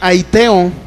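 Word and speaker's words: αἰτέω: Pidieres es la palabra griega aiteo, así como se pronuncia.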